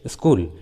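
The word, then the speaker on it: school: लेकिन इसका एक्सेप्शन है, जैसे स्कूल, यहाँ पर एस और सी एक साथ है लेकिन यहाँ पर सी का उच्चारण किया गया है, स्कूल।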